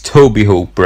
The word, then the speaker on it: Tobe Hooper: directed by tobe Hooper actually it's tobe Hooper I can never pronounce it correctly and no one else can either unless you've sort of read it and for some reason you know that that's what it is and I'm just gonna